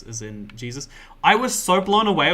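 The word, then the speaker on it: Jesús: Like, yeah, Jesus is just it's pronounced Jesus, because like J's are H's in Spanish, because they got the memo about how the alphabet works wrong.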